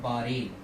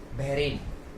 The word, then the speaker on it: Bahrain: इसको अक्सर लोग गलत प्रोनाउंस करते हैं, वो इसको प्रोनाउंस कर देते हैं बहरेन। क्या प्रोनाउंस करते हैं इसको? बहरेन, जो कि पूरी तरीके से गलत है, या बैरेन भी पूरी तरीके से गलत है।